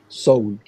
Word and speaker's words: Séoul: Ça se prononce « so » et « oul ». Seoul.